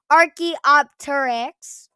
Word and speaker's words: Archaeopteryx: Archaeopteryx.